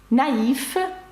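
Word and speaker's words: naïf: виключення є деякі приголосні які все ж таки вимовляються наприкінці це приголосна fф наприклад наїф Актив наївний активний приголосна Ель також читається наприкінці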